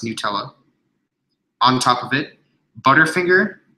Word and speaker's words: Nutella: cups melted peanut butter Nutella and yes it's pronounced Nutella on top of it Butterfinger and also more